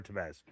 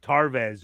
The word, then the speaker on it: Tevez: Yes, Aurora Tevez. I always mess up Tevez because I don't know why. Yeah. I want to say it Tarvez or who is I'm thinking of something else.